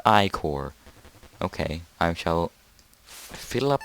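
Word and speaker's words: ichor: a trouble chalice magical Iker that's pronounced I core ok I'm shall fill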